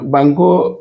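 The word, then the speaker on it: banco: যাই যে দেখুন যে সকল শব্দের শেষে ও রয়েছে এটি উচ্চারণের সময় ও এর স্থলে এটি উচ্চারণটা হয়ে যাবে ইউ এর মতো আমরা যদি একবার দেখি যে বাঙ্কু দেখেন বাঙ্কু এটার শেষে কিন্তু ও রয়েছে কিন্তু এটার উচ্চারণটা কিন্তু বাঙ্কু ও এর মত উচ্চারণ তাছাড়া বাঙ্গু মানে ব্যাংক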